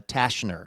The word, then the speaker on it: Tashner: The T is silent. No. Uh, let's see. So, uh, Tashner is how we're saying this.